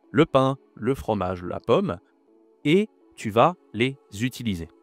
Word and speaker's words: pomme: Et donc là, on a, c'est pas paume, c'est oh, pomme, d'accord? Donc ces mots, tu vas les dire à l'oral, le pain, le fromage, la pomme, et tu vas les utiliser, ok?